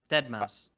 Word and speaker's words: deadmau5: How do you say it? Dead Mouse.